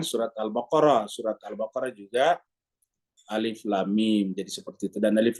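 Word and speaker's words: الم: dia Alif Lam Mim Jadi dibacanya satu-satu Alif Lam Mim ya jadi alif lam dan mim jadi tiga huruf di sini huruf alif huruf lam dan huruf mim ya tidak boleh dibaca alam di dalam al-qur'an kata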